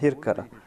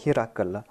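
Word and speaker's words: هرقل: On avait posé cette question, à savoir que j'ai prononcé Eriaklus dans la langue ourdou comme Hirkal, alors qu'en arabe, on prononce cela comme Hirakal. Mais cette prononciation ne peut être acceptée dans la langue ourdou. Et puisque cette session est en langue ourdou, on va prononcer cela Hirkal.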